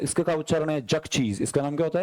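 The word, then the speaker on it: Xerxes: "आपका उच्चारण क्या है ?" फिर उन्होंने कहा कि इसका उच्चारण ज़ेरक्सेस है।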